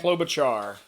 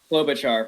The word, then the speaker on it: Klobuchar: Klobuchar. Klobuchar.